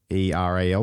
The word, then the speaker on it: puerperal: Now, I don't know how to say this. It's spelt weirdly. It's got an odd spelling. It's Puerperal, so puerperal fever.